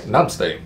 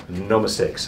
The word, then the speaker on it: Namaste: Namaste no mistakes anyways it's supposed to be Namaste but he doesn't know how to say it so he goes no mistakes I think it's hilarious